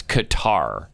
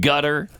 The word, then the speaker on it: Qatar: It's Qatar. It's not gutter. It's not guitar. It's Qatar.